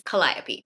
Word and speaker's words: Calliope: Few people have asked me, how do you pronounce the main character's name? Her name is Calliope.